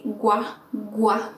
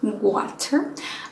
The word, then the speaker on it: water: The W is not g, because a lot of times in Spanish we tend to say gua, gua, water.